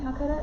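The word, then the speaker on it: Calacatta: But this is called the same thing, Calcutta? Is that how you pronounce it?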